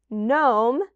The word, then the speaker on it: gnome: example I have here is GN which also just makes that n sound so it's in some funny words like gnome and see the Little Gnome picture and then it's also